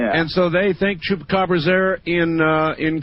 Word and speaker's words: chupacabra: local news that they were showing that they think the Koopa Chabra really did it. That's the Chupa Cababra. Chupacabra. It is my mission in life to teach people how to pronounce that.